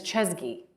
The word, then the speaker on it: Chesky: kalanic kalanic yeah and it's chesky chesky yes Ryan chesky of Airbnb okay difficult it